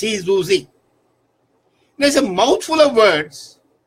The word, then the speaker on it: syzygy: Now it's spelled Syzygy and it's pronounced Syzygy.